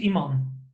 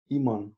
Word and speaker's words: Iman: So my name is Iman. Iman. Okay. Yes, it's an old Dutch name actually.